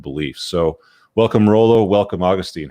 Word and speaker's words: Augustine: And technically, us Catholics, we pronounce it Augustine. Augustine's the more feminine pronunciation, but okay, yeah, Augustine, yeah.